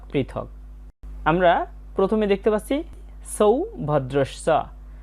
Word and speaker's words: সৌভদ্রশ্চ: আমরা প্রথমে দেখতে পাচ্ছি সৌভদ্রশ্চ, এখানে দন্তস্বয়ের উচ্চারণটা ছয়ের মতো হয়েছে, সৌভদ্রশ্চ।